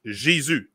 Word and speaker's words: Jésus: Yeah, Jesus in French is Jésus. It's the same word, just pronounced different.